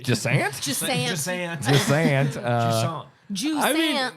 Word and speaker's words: Jusant: I'd say Jasant. It is cozy, but like there is What? You're the most Kansas pronunciation. Jasant. Jusant.